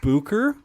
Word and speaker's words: Bucher: one is B so traditionally my name would have had the I believe they called an uml it's three dots above the U so it makes a o okay and then CH and R um I